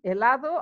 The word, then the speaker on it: helado: and that's an ice-cream helado eyes allahu so when a ladder remember H is not pronounced we'd have los olivos